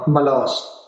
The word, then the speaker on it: ملاذ: پناہ ہے، ملاذ الغرباء، اس کی تلفظ دیکھ لیتے ہیں، ملاذ ہے ملاذ، ملاذ بھی کہتے ہیں